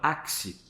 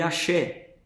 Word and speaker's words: Axe: uma marca que chama Axe, A-X-E, porque é uma pronúncia difícil aqui para o Brasil, né, no português. As pessoas podem ler axé. O X ele tem outra sonoridade dentro da nossa língua.